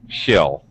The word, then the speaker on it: she'll: and very good Yuki you reduce the e sound in she it actually gets reduced to a nice relaxed shill she'll do it she'll